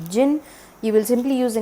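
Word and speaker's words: 人: countries or different nationalities the reading is going to be Jin you will simply use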